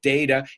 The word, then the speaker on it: data: out of data is data plan there's another word data or data whichever you prefer doesn't matter data data tomato tomahto so yeah that's one of those words that you can pronounce either way like Vaes and Vaz